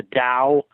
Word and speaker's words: Tao: Taoism sometimes it's spelled with the T but pronounced with the deed the Dow well taoism along with Confucianism are considered the